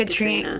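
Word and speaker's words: Caitríona: It's just pronounced Katrina.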